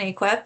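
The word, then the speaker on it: AAQEP: Um, it's pronounced cape and aquip.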